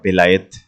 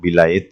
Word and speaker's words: বেলায়েত: চাই তাহলে প্রথমে আমরা বেলায়েত সম্পর্কে জানি বেলায়েত শব্দটি থেকে মূলত অলি শব্দটি এসেছে আরবি বেলায়েত আমরা যেভাবে উচ্চারণ করি না কেন বেলায়েত বা বেলায়াত এই বেলায়েত বা বেলায়েত